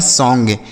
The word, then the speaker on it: song: अब O का उच्चारण आ की मात्रा होगा, यहाँ पर एक चाँद बिंदी भी लगाएंगे। ठीक, और यहाँ N से हो गया चाँद बिंदी और G से ग। यह लिखा है सॉन्ग।